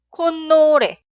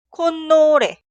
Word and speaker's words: 콧노래: Siguiente, esta palabra es la combinación de 코 y 노래 y se pronuncia 콧노래, 콧노래.